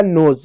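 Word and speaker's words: nose: पढ़ेंगे ठीक है ज ई साइलेंट होगा हो जाएगा नोज नोज मींस होता है नाक तो ये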